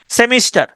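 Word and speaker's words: semester: সেনজি আর মেসেঞ্জার ম্যাসেঞ্জার সেমিস্টার এসই এমই এস টিই আর সেমিস্টার উচ্চারণটা হচ্ছে সিমেস্টার ঠিক আছে সেমিস্টার মানে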